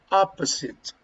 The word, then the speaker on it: opposite: you pronounce opposite repeat opposite okay the pronunciation is uh the the stress is here opposite opposite opposite okay opposite for example